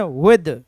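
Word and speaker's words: with: मतलब से और साथ सबसे पहले इसका उच्चारण वित्त नहीं है लोग अक्सर ऐसे बोलते समय एक गलती करते हैं विथ डेट इसे रंग इसका उच्चारण विथ क्लियर हुआ मेरे दोस्त ओके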